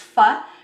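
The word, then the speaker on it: phở: know if you've had spelled p-h-o but pronounced fa is a vietnamese dish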